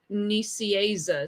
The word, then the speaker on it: Nicieza: Oh, the guy's telling me how to pronounce it. Nicieza.